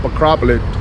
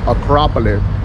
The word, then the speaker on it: Acropolis: then later hit up acropolit Acropolis how do you say that Acropolis there you go see if I